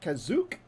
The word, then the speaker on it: Kashyyyk: the drain of two akashic uh kashyyyk as it's known uh normally however if you're watching star wars uh holiday special and you're wondering how they pronounce it is they pronounce it kazuk learned that the other